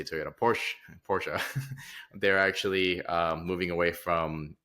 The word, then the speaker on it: Porsche: Apparently Porsche or Porsche, however you want to pronounce it, tomato. I say Porsche. I think the Germans say Porsche too, so they do.